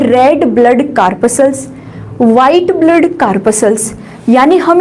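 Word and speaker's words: corpuscles: करें तो यहाँ पे इसका जो प्रोनाउंसिएशन होता है वो कार्पसल्स ठीक है।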